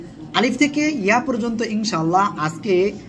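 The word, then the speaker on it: ألف: সে অক্ষরটা কি আলিফ এই আলিফ অক্ষরটা উচ্চারণ করব কোন জায়গা থেকে মুখের খালি জায়গা থেকে আর শেষের দিকে এসে নিচের ঠোঁটের পেট এই সামনের উপরের দুই দাঁতের আগার সঙ্গে লাগিয়ে হালকা বাতাস বের হবে আলিফ আলিফ আলিফ ঠিক আছে ওকে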